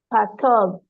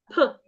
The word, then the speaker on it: perturb: Pub. Again. Pub. No, it's not P. It is perturb. Purb.